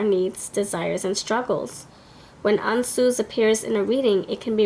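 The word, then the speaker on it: Ansuz: Ansu's God, mouth.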